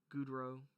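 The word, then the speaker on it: Godchaux: devin or devon and i believe his last name you pronounce it gudro um it's cajun uh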